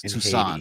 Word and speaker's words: Toussaint: movie, and since he they speak French in Haiti, so it's Toussaint.